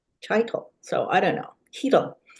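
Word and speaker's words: Chytil: For the Canucks, they got Philip Heitel. Heitel. Cheeto, They yeah. keep giving him, they keep pronouncing it differently. I went to high school with a guy with that name, and he pronounced it Chitel.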